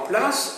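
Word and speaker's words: plaids: PLA, ça s'écrit P L A I D S.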